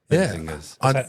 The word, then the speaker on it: Menzingers: Well, you know, it's a I read it like men's like mint. No, it's menzingers.